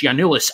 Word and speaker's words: Giannoulis: But tell the Hodge on Nodge listeners why you can tell us about Christos Tzolis and Dimitris Giannoulis, and correct my pronunciation first off.